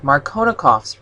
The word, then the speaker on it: Markovnikov: This brings us to an important rule in organic chemistry called Markovnikov's rule. You also may hear this pronounced Markovnikov.